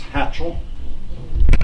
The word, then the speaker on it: hatchel: it's called a flax hatchel, or it can be spelled with an A or with an E. You see it both ways, but it's hatchel or hetchel.